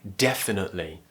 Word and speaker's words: definitely: nut li definitely now you technically don't have to pronounce that t you could just say